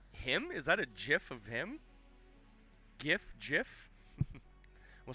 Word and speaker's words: GIF: him is that a gif of him gif jiff we'll start the great debate here i've always heard that apparently the actual guy that invented it he pronounced it as jiff even though it's a